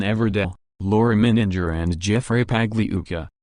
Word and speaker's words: Pagliuca: Sternheim, we are proud to represent Ghislaine Maxwell, me and Christian Everdell, Laura Mininger and Jeffrey Pagliuca, pronounced like lasagna, G silent.